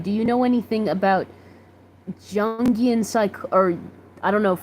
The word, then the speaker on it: Jungian: Alyssa Chapman says it's pronounced like the Y, so Jungian.